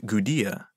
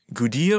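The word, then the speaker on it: Gudea: lagash a ruler named gudiya spelled with a d even though his name sounds quite similar to the people who had taken over a cat gudia ruled in lagash and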